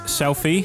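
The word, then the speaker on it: Selphie: Um, this is Selfie from Final Fantasy 8.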